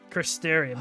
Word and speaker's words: Crystarium: Crystarium, that's how you pronounce it.